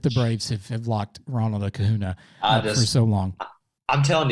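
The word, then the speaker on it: Acuña: I'm sorry, I keep pronouncing his name wrong. It's Acuna.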